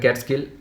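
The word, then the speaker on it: Catskill: মধ্যে এমং ক্যাটকিল মাউন্টেনস এটা উচ্চারণ দেখবে ক্যাট স্কিল ক্যাট স্কিল ওকে ক্যাটস্কিল মাউন্টেনস ক্যাটস্কিল মাউন্টেনস তাহলে ক্যাটস্কিল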